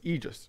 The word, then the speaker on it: aegis: both gleaming aegis and i looked up it's aegis it is gleaming aegis that is the correct pronunciation and then we can